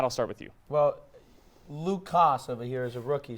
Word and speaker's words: Luke Koss: but we should go forward by pronouncing his name with a K in it because he spells it with a K and not a C. It's Luke Koss.